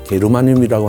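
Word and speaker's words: germanium: 우리 식약처에서는 인정을 안 하고 있지만 저메늄, 독일식 발음을 하면 게르마늄이라고 하는 성분도 한국산 인삼이나 영지버섯이나 마늘에는 아주 최고로 많은 것으로 알려져 있습니다.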